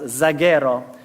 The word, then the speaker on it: zaguero: Now, in modern Spanish, casero would be pronounced zaguero, spelled with a Z.